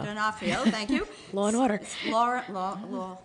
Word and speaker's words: D'Onofrio: Star Vincent D'Onofrio, you can pronounce it? D'Onofrio. D'Onofrio, thank you.